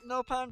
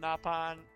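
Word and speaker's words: Nopon: I'm sorry I've been I originally pronounced it no pan but after I realized it was in the other games it's pronounced napan and while I was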